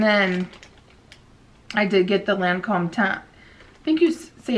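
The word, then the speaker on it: Lancôme: how you say it they taught me how to say it and it's Lancome is how you say it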